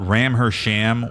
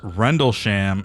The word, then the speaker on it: Rendlesham: If you thought Ram Her sham was the latest video from Bang Bros, stick around. You're wrong. Apparently, it's pronounced Rendle Sham and it's a UFO story.